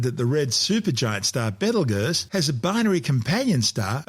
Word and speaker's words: Betelgeuse: Commonly called Betelgeuse, don't say it 3 times, its name has been tortured through centuries of mispronunciations. It originally started as Betelgeuse, meaning the hand of the big man in Arabic, the big man being Orion the Hunter.